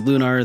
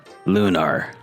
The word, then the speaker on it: Lunar: lunar and they say it in cutscenes as lunr therefore it is in fact lunr so lunar is a game that normally comes